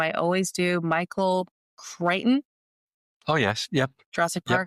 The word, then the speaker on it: Crichton: Michael Crichton.